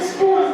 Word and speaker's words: spoon: Yang benar itu spoon. Karena dalam bahasa Inggris double O. O-nya dua berdampingan itu bacanya U. Jadi bacanya spon.